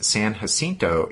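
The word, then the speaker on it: San Jacinto: to tell us that in Texas they pronounce San hinto incorrectly with a hard J so hopefully we got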